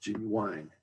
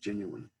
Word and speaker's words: genuine: the pronunciation of the word genuine is often pronounced g wine it actually should be pronounced genuine articulation that's a matter of saying words clearly